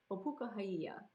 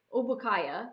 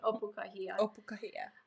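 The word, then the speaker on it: Ōpūkahaʻia: Opukahia. Henry Obukaya is what he was called for short when no one could pronounce his name, but Opukahia.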